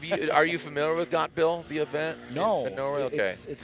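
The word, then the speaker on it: Gatebil: are you familiar with got bill the event no really okay look it up it says it's like gate bill but g-a-t-e-b-i-l it's pronounced got bill they do all sorts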